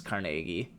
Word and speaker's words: Carnegie: they did it but either way it's Carnegie but obviously you don't like you probably don't like say nay that intensely oh like the guy yes um definitely three syllables no matter how you